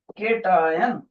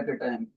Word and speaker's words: cation: देखो teacher spelling कैसे लिखने लगा है केटायन, CATION, केटायन। कोई बच्चा बोलेगा सर आपसे टी छूट गया, तभी टीचर उनको बोलता है बेटे टी मैंने छोड़ा नहीं, डेलिबरेटली मैंने उसको मिस करा ताकि मैं टी